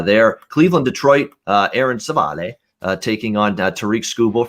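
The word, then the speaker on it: Civale: cleveland detroit uh aaron savale uh taking on tariq skubal for the detroit tigers uh we've got uh uh savali is actually how you say it in english uh but minus 140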